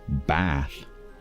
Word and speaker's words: Bath: So we have R, A, and a long version of that, which is A. And so here, the city of Bath is pronounced Bath.